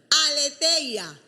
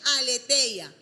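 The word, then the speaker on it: aletheia: no soy griega Okay aleteia aleteia se escribe a l e t h e y Latina y a okay aletea Y esta palabra lo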